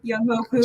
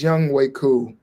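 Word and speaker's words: Younghoe Koo: JJ Young Hoku. Juju. Young Hoku. Young Hoku. It's Young Way. It's Young Way Cool.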